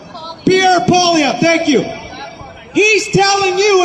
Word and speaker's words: Poilievre: How do I pronounce? Pierre Poilievre, thank you.